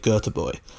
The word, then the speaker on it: Göteborg: Swedish city of Gothenburg it's actually IFK Goethe boy or boy but we're not gonna try and pronounce that every single time because it is quite difficult I do speak basic Swedish so I can assure you that is quite similar to how it's actually supposed to be pronounced I don't speak that